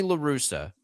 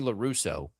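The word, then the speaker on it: La Russa: Tony LaRussa, who he wouldn't say his name right, he called him Tony LaRusso, just like could never like every day and it was something.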